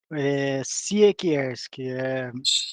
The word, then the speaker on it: Siekierski: Siekierski, polonês, Siekierski, polonês, lá polonês.